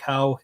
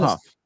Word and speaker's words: Hough: It's Mike Howe, and then there's Tom Fitzgerald. So But Mike Huff. Okay, Mike Huff.